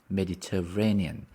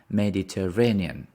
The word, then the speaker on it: Mediterranean: been to the Mediterranean Mediterranean the stress is on the on mediter on the fourth syllable Mediteranean Mediterranean Mediterranean Mediterranean have you